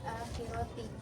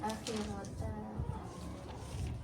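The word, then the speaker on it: الآخرةِ: Ad harusnya tadi Ananda bacanya I tadi juga ada di salah harakat harusnya akhirati jadi ananda bacanya akhirata begitu perhatikan lagi juga ada tadi salah harakat di surah Albayyinah harusnya hunfa Tadi ananda bacanya u.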